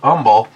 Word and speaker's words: Humble: neighborhood I used to live in it's a humble pronounced humble because Spanish is something Texas which is on